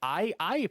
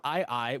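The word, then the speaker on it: aye-aye: misspell ii here he's just going to say aiai but if you look up ii which is an actual animal that lives in madagascar which is a small island off of africa and you spell it a y e a y e and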